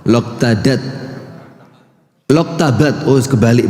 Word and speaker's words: Loktabat: Loktadat. Loktadat. Loktabat. Oh, kebalik bacanya.